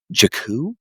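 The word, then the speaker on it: Jakku: Jack shows Jaku. Yeah, there you go. Is it Jacu?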